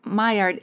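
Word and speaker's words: Maillard: those who are listening my Ard is it m a i l l a r d myard yes not pronouncing the L like I did at first okay cool my goodness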